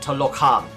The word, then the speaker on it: Talocan: That's the actual pronunciation, like Talocan.